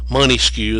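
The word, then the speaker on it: Montesquieu: though it's not academic think of Monta as money money skew is they mispronounce it grossly money skew and they think of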